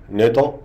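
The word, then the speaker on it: 納豆: إن إنزيم الناتو كينيز هو إنزيم يأتي من طعام ياباني يسمى الناتو، تلفظ باليابانية ناتو، ويتم تصنيع الناتو من فول الصويا المسلوق الذي يتم تخميره بنوع معين من البكتيريا تسمى البكتيريا العصوية الرقيقة.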